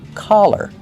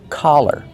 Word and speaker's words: collar: Make the open ah sound. Ka, collar, collar.